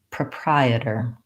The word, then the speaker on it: proprietor: an bitter ending so I can start with my Prai Prai proprietor I can also start with the short unstressed last syllables and just try it ER it er when I can say that I can add my Prai Prai etre Prai etre and finally proprietor when I have the